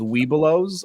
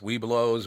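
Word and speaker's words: Webelos: I think I think they put an extra syllable between we and blow so it's wee blows or something weow yeah so but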